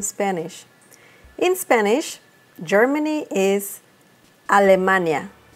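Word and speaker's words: Alemania: say Germany in Spanish in Spanish Germany is a Lamanna allamani that's quite different right okay the next one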